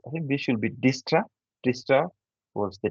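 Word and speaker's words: Dijkstra: s t a right so there's a lot of silent letters within this name but you know I always read it as distra distra because this D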